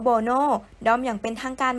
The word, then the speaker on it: BoNoh: ชื่อ ด้อม แล้ว ใช้ ชื่อ ว่า Mono อ่าน ออก เสียง ว่า brono ด้อม อย่าง เป็น ทาง